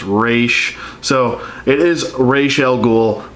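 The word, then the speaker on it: Ra's: a normal occurrence that people pronounce it raz but it's actually supposed to be pronounced race so it is rachel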